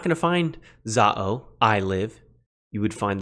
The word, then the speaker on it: ζάω: Today we have zao. Zao. Now, depending on how you pronounce it and whatever, maybe it's zao.